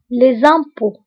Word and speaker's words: les impôts: هنا أو كنكتبوها بأكسون سيركونفلكس و تي لا تنطق. les impôts.